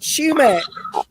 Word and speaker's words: sumac: another thing that happened when a area news weather forecaster pronounced the name the way it's spelled. And yeah, in most circumstances, it would be pronounced that way, but you're dealing with rural folks that have called it this name for years. Mm-hmm. So Oh, sumac was pronounced shumac.